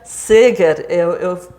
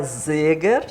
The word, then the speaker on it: Seger: os os seus sobrenome a gente pronuncia Saga eu faço questão de dizer isso que a gente quando diz ser está nem falando português e nem alemão porque se fosse alemão seria zega né E se fosse português